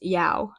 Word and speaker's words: Yao: The same character as I saw in the Hail Mary mission crest is pronounced Yao.